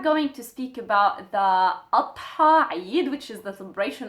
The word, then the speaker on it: Adha: Adha. So this is the name of the celebration that we have nowadays. Adha. Adha. It has the D and the Ha sound in it.